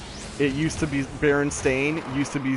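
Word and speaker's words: Berenstain: asking my mom hey are these the baron stein bears because it said s i n and she told me no it's Baron stain I asked why she said that's just how it's pronounced and so the fact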